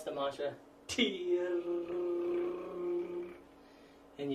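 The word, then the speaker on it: Tyr: When lowering the straight arms, pronounce the mantra, tear, and you strongly pronounce the T, and that gets the consciousness into activity.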